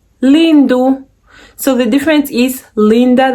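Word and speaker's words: lindo: if it's a man you say vo e lindu so the difference is linda that ends with an a is female and then lindu which ends with an o is male yeah i know i'm saying lindu and it sounds like it's a you but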